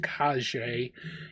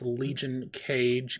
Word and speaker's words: Legion Cage: It is not, contrary to popular beliefs, pronounced Kage. It is Legion Cage.